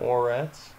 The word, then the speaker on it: Moretz: Moretz.